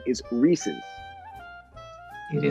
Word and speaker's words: Reese's: Gary Baba Booey mispronouncing Reese's and calling it Reese's, but the correct pronunciation is Reese's. It is not Reese's. Yeah, it should be. I mean, there's only one E after the S.